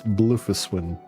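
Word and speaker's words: Bloefhiswyn: I know it looks like mostly uh consonants, but it's blofus when also the depth of field needs to kick in and off cuz holy hell things look blurriier than they should be.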